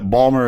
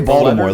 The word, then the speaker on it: Baltimore: Say Baltimore like like Voldemort but with a B.